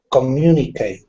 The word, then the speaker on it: communicate: all right uh alejandro communicate the stress is on fourth syllable not the fourth communicate you said it right so you've put the stress in the right spot communicate not the last syllable communicate so it's the second syllable communicate okay right very